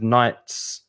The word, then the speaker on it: knight: the context knight is caballero so you have knights defending the king for example or if you